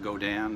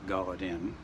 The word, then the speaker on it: Godin: That's pronounced Godin, not Gaudin, like Godin. It's a proper French-Canadian name, so that's how you pronounce it.